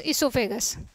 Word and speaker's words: oesophagus: यहाँ इसोफेगस की स्पेलिंग दो तरह से स्टार्ट होती है, यहाँ भी ओ साइलेंट रहता है तो OESOPHAGUS इसोफेगस।